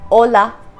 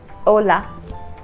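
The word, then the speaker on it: hola: this is a the H is always silent in Spanish a a and the example with h is Ola Ola we don't pronounce the exact sound of H this will be Ola this is e this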